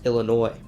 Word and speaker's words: Illinois: newek and when the French arrived to the region they pronounced the Ojibwe word illiniuek as ili Noir which later American settlers then pronounced Illinois because of this the